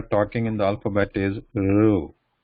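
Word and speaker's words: ऋ: in the alphabet is Ru. So how this is pronounced is, keep saying E, keep saying E, and then move that tip of the tongue towards the roof of the mouth.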